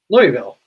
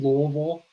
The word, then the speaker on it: Louisville: Louisville, Kentucky.